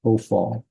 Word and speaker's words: Hophal: The accented syllable is the one is the all. So it's Hophal. That's why we call it Hophal.